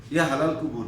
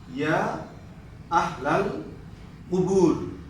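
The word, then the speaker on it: يا أهل القبور: Uh, some people say, Ya Halal Qubur, Ya Halal Qubur. Assalamu alaikum, Ya Halal Qubur. Actually, no. We need to be careful about this pronunciation and dua. Assalamu alaikum, Ya Ahlal. You can see here, and also you can see it in your textbook. Assalamu alaikum, Ya Ahlal, Ya Ahlal Qubur, Qubur, Qubur. Okay, the correct pronunciation is Qubur, Ya Ahlal Qubur.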